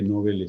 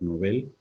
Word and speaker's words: Nobel: Brevemente, Nobel se debiera pronunciar Nobel, está admitido, nosotros decimos Nobel.